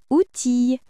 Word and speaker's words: outil: La lettre I et la lettre L à côté se lit I comme dans gentille outille fusil.